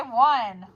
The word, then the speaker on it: one: We have to think on, but we say one.